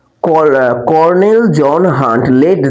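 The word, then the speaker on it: colonel: কি উত্তরটা লিখি তাহলে তাহলে উত্তরটা কি কর্নেল বানানটা কি কলোনেল কর্নেল জন জে ও এইচ এন জন হান্ট তারপরে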